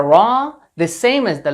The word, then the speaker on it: ر: arabic is the letter raw it looks like a banana or like this so the pronunciation of this letter is the same as the word raw that we have in english the counterpart of this